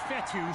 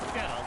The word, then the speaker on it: Fetu: So Coach Fetu, spelled F-E-T-U, for the longest time. I was pronouncing it Coach Feta, like feta cheese.